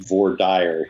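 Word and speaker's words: voir dire: all of his books is Vader uh is that how you say it James I'm in Kansas it is very often V dire here but Vader is correct Vader all right well we'll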